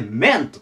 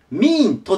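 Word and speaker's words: meant: がちょっと変わってこれでメントと言いますミントではなくてメントで次はえっと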